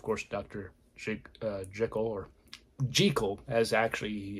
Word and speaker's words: Jekyll: tale and of course Dr uh Jekyll or jiko as actually it's pronounced that is the way that the author Robert Louis Stevenson I wanted to make sure I knew his name um he wanted to pronounce giko but in the although in the sound versions